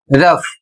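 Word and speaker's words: rough: अगला शब्द है आर ओ यू जी एच। इसे पढ़ा जाएगा रफ।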